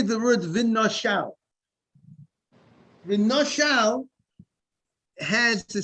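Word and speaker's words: ונשל: Let's say the word v'nashal. V'nashal has the sound of vav, nun. It sounds like after the nun, v'nashal sounds like an aleph or a hey, v'nashal.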